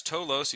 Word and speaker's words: Towlos: So, yeah, it's toos and you you pronounced it correctly so good on you.